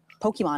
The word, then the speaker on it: Pokémon: So, first of all, Nick, what is Pokemon? Did I say it right? Yep.